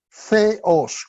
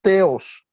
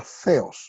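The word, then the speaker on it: Θεός: Okay eso se pronuncia feos con como si fuera th en el inglés verdad feos o como si fuera la z de los españoles de allá de España verdad feos eso no es teos si no se pronuncia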